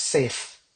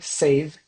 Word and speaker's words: save: Banyak orang eh pronounce this as safe. Safe. Nah, kalau safe itu s a f e bukan v ya. Kalau ini save itu save. Save the ve ada-nya di situ. Bukan f tapi the save.